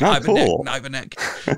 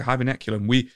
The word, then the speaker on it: Hiberneculum: on the show, and I kept saying it wrong. I was like, Hiberneck. So, yeah, we spoke about it on our show last week. So, Hiberneculum, me and Ravi, we